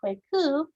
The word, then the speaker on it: Kwaku: mentioned already boys born on wednesday are called kwaku and the most famous one is we could